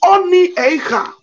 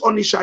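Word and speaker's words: Onitsha: It is Oni Eicha, Eicha, Oni Eicha. The British people could not pronounce it. They call it Onisha.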